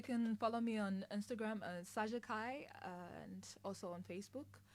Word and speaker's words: Saxsa Khai: Well, you can follow me on Instagram, Saja Kai, and also on Facebook. So it's spelled SAXSA. That's for the Saja, and then the Kai is KHAI. There you go. Follow me there. Like sax, Kai.